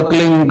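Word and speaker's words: क्लीं: की मात्रा और बिंदी उसका उच्चारण होगा क्लिंग ग ग की निकले पीछे आप अंग बोलो य स्ट्रोक लगता है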